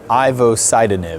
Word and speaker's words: ivosidenib: agent it's called it will said and i'm ivo sidon it very good thank you besides how to pronounce it what do we know about it